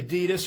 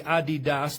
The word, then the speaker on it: Adidas: You see the Adidas or the Adidas, depending on your pronunciation, logo there in red,